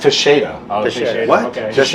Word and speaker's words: Teixeira: Texeria. Oh. It's not. Teixeira. It's Teixeira.